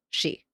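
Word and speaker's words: sídhe: accent m uh d h e and it's pronounced she okay sometimes you'll just see s with the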